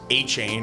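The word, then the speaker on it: Etienne: It's like some like French way to say it or something is.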